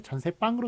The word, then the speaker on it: 전세방: 예, 그런데 여기에 전세빵으로 소리 납니다만 사이시옷 못 붙입니다.